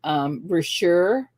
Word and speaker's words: Brashear: So it's like a bra and some shears.